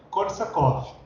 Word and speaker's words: Korsakov: Esse V mudo no final, eu percebi aí pelo tradutor que ele tem som de F no final, né?